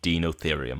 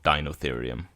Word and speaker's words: Deinotherium: Not just any elephant, they are called in-game a Dinotherium, or Dinotherium. Kind of pronounced in the same way as Deinocheirus or Dinocheirus or Deinosuchus.